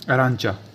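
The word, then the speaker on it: arancia: और एग्जाम्पल ले सकते हैं जैसे अरांचा, अरांचा, तो देखिए सी के बाद क्या है आई, तो क्या पढ़ेंगे सी को च, लेकिन आई के बाद क्या है ए, तो क्या हो गया आई साइलेंट, यानी अरांचा, अरांचा, अरांचा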